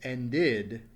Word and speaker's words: ended: When you have the past tense as ended, once again, adding the extra syllable.